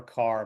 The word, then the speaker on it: Kerr: And I know I think a British person would say Deborah Carr, but I'm going to keep calling her Kerr because I that's like asking me to pronounce Derby Darby. I'm just sorry, I can't go there. Nice try, British people, but you're stuck with my mispronunciation.